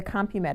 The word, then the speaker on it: CompuMed: And let's talk a little bit about why somebody might choose to do this is the CompuMed, is that how it's pronounced?